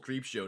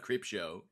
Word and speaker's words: Creepshow: And now my comment section is full of people going like, it's called Creepshow, not Cripshow.